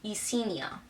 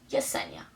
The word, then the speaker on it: Yessenia: annoying especially my personal when someone says my first name wrong you see Nia why are you saying you see and my name is Yessenia with a why not a Jamie so call me yesenia like yes yesenia okay yeah a lot of